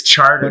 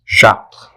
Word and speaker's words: Chartres: It's Charter. But if I say Chartres, nobody's going to know what I'm saying. So, Dad is one of those. but I refuse to pronounce it the American way. It's Chartres.